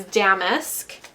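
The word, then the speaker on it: damask: work the other day if it was damasque or damisque. And it turns out that it's damisk um according to all the different online dictionaries that have pronunciation guides.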